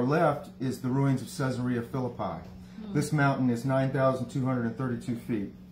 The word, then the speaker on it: Caesarea Philippi: actually pronounced mount hormone and caesarea philippi is pronounced kasaria felipe but i'll keep saying the old pronunciation because